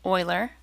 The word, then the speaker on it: Euler: It's not Euler, it's pronounced Euler, named after Leonhard Euler.